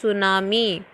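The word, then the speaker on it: tsunami: spellings you कैन see from the help of सुनामी पति silent होता है इस अवधि विकट सुनामी कि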